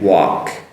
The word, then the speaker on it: walk: Work and walk. Walk, work. The walk with the L, which is silent L, and the work with an R that is slightly pronounced.